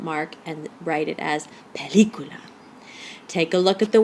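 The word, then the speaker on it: película: in a vowel so if we followed rule one the stress should be on the second to last syllable and we would say pelicula pelicula but that's not what we say we say pelicula since we've broken rule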